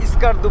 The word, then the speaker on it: Skardu: বাট বালচিস্থানের ভিতরে আবার স্কারদু পড়। এখানকার ভাষায় বলে সিকারদু। বাট আমরা উচ্চারণ করি স্কারদু।